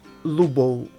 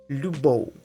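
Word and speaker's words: любов: l which means that it's not lubo it's le lubo i will write this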